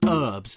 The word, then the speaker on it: herbs: serious question for Americans why do you call them herbs why is there a silent h there what do you live